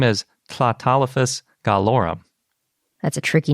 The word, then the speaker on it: Tlatolophus: But the hard part is spelled starting with a TL, and it's based on Nahuatl, which is, as best I can pronounce the language, that we usually pronounce Nahuatl.